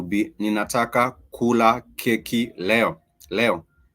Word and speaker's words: leo: Leo. Leo, the star sign Leo, in Swahili we pronounce it as leo, and leo is for today.